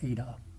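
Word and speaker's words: η: The Greek letter N is pronounced ADA.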